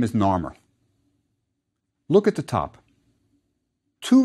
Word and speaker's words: Narmer: top is a catfish which was pronounced gnar in ancient egyptian beneath it is a chisel pronounced mer narmer that's how the first king's name was pronounced now let's look at